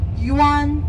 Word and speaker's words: Yuan: we call yuan mingqing yuan is like the Chinese money the note yuan y u an same character same pronunciation Yuan dynasty the emperor